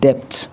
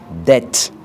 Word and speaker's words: debt: La lettre B n'est pas également le plus souvent prononcée lorsqu'elle est placée avant T. Par exemple, on ne dit pas debt, on dit debt, c'est-à-dire la dette.